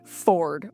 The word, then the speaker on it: Fjord: episode 2 does with Fjord. Sorry, Ford. Why is the J there if you're not going to pronounce it?